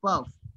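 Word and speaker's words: peuvent: Can you please pronounce this word, sir? Sorry. The last one that you've written? Il el puff, P-E-U-V-E-N-T, puff.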